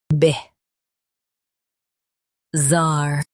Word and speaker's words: bizarre: Stress zar and keep bih soft. Bih. Zar, bihzar.